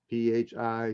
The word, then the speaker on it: phi: the greek letter phi p h i some pronounce it phi the proper pronunciation in greek is fe and uh you get